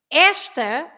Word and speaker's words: esta: So esta, there are two syllables, esta. There are no accents, so the rule is you stress the first part because it's the one before the last, right? If you stress that part, you say esta, esta.